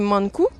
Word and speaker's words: Mankou: rempli d'humour petites règles vous prononcez mankou monde se prononce comme home en anglais coup se prononcent coup c'est simple comme un coup voilà donc la bd